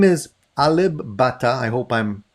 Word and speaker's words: Alip Ba Ta: popular his name is alib bata i hope i'm pronouncing that properly is that let me just verify that i think it is pronounced alip a lip with a p butter and i have no